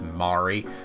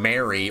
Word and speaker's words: Mari: I agonized for so many hours yesterday on how to pronounce Mari. Because when I played this before, I was saying Mary or Marie. I was, like, flip-flopping between the two, but... Given the Japanese-leaning feeling of the name, I decided to settle on Mari after making a Steam